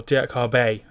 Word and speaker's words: Diakhaby: taken place and imagine it's tu kabhi or dear Cobb a is how it's pronounced but he is a